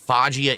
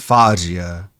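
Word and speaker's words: Foggia: Actually, I a Fajia Italy. That That's why you said fo because it's pronounced fajia.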